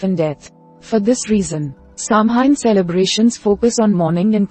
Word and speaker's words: Samhain: Samhain, pronounced sow-en, is a pagan holiday that has been observed for centuries.